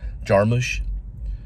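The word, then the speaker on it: Jarmusch: Cormac Cormac Cormac McCarthy they pronounce his name a little different than how I do it kind of how rich Richard Linkletter will will pronounce Jim Jarman she pronounces them jarmus and everybody I know calls him jamush you know everyone's like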